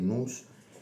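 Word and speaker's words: nous: fuerza motriz que es nose escrito pronunciado nus porque viene de un ditongo heredado del griego, el ditongo omicron y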